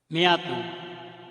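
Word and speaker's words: مائة: We do not pronounce the alif of Miyatun.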